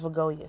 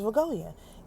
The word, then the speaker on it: Vegoia: Okay, her name is Viggoya. Say her name. Her name is Viggoia.